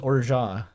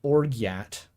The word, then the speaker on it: orgeat: Apparently it's just Orgeat. It's French. It's a really hideous word. I've heard Orgeot. It's not Orgiat. It's not that.